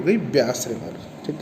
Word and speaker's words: Beas: इस रिवर को कहते हैं ब्यास रिवर, BEAS इसका नाम होता है, बोलते हैं व्यास, हिंदी में कहते हैं व्यास रिवर।